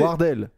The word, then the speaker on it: Wardell: Je pense qu'on prononce Wardell plutôt.